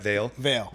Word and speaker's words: Vale: Vale Yep. Food Company, which, by the way, I've experienced. It's phenomenal. A rapidly growing, healthy, fast, casual restaurant with 10 locations in Florida. Salute to that. Vale Food Company offers build your own bowls, acai